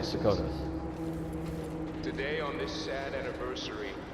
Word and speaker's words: Serkonos: We're in this with the Duke of Serkonos, sink or swim. There's no way to turn back now. It's interesting that when you listen to the characters in this game, sometimes they pronounce it Serkonos, sometimes they pronounce it Serkonos.